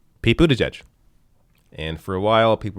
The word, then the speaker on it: Buttigieg: Pete Buttigieg. Pete Buttigieg.